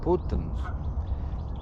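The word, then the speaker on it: putns: can't even say bird so in latvian the bird is putins p u d n i s p n p-u-t-n-i-s that's how you how you spell it out so it's it's called putin's putin so that's the bird in latvian putin's so um yeah and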